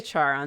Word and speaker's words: Charon: Uh I I said uh Charon, which I think is how you you pronounce it, but I never am sure. Let's just say Charon then. That's Okay, Karen. Karen? Yeah, that is apparently how it's pronounced.